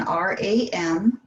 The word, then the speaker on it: Ram: So it's spelled again R-A-M, but it is the sound of Ram. So a long R, short A, long M.